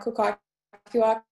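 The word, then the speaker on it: Kwakwaka'wakw: And I'm from the Squamish Nation, but I'm also Musqueam Kukwakiwak. Thank you for attempting to pronounce that. Kukwakiwak.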